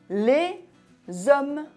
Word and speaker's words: les hommes: h muet par exemple on dit les hommes ont fait la liaison on prononce le s final devant une voyelle ou 1h muet cet